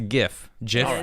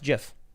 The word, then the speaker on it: GIF: That's why it's GIF. You can have a hard G or a soft G. Right, and the guy who invented it said it's GIF.